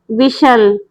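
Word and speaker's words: whistle: wave हिलाना weep रोना विसल सीटी बजाना टी इसमें साइलेंट है इसीलिए इसको हम प्रोनाउंस नहीं करेंगे इसीलिए इसका प्रोनाउंस प्रोनाउंसिएशन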